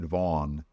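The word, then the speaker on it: Vann: He spells his name Van, but he pronounces it Vaughn.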